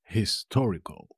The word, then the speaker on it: histórico: ex de aiete es histórico histórico histórico tiene un acento en la primera o como lo veis histórico